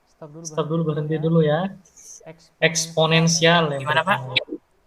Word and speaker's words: eksponensial: Eksponensial ya. Gimana, Pak? Cara bacanya itu distribusi eksponensial ya. Bukan eksponensial ya, eksponensial.